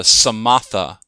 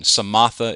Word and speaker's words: samatha: and that is the samatha movement of meditation samatha is spelled just like samantha but without the n okay no n samatha and samatha is